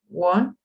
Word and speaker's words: won: just wind the lottery not win we have just one one pronounced like the number one we have just won